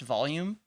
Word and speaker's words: Voljum: Yeah, Voljum. I think it's actually pronounced volume, but it's spelled Voljum, Voljum. Yeah, I think he's Sounds like volume, Swedish, yeah.